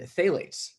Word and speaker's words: phthalates: is bisphenol A, and phthalates. Phthalates spelled with a P.